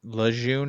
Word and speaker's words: Lejeune: I definitely look into Camp Lejeune. Is that how you say it? How do you spell it? Lejeune. Lejeune.